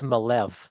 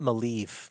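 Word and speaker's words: Maleev: that I just learned really recently is Alex malev not malie Curtis like uh because before I did an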